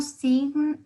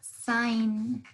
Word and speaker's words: sign: Esta suena como una A. No sin, no sin, sino sign.